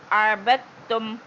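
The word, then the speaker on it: عَبَدتُّمْ: அபத்தும் இது தால் நம்ம உச்சரிக்க கூடாதுமா, தாவை தான் உச்சரிக்கணும். ஏன்னா தாவுக்கு வந்து ஷத்து இருக்கு. ஸோ இந்த சுக்குன் வந்து சேர்க்கக்கூடாது. அப்போ ஸ்ட்ரெயிட்டாக என்ன செய்யணும்? பாத்தா ஜபர் பத் அப்படி வாசிச்சிடணும், புரியுதா?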